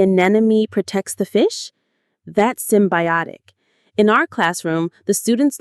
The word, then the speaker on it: symbiotic: Symbiotic. The stress lands on that third syllable.